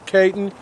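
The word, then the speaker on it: Cayton: Chip Caton. Chip Caton. Spell that.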